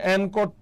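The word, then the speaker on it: anchor: হচ্ছে এই ট্যাগ এনকর এটার উচ্চারণটা হচ্ছে এনকর ট্যাগ আমি একটু ফাস্ট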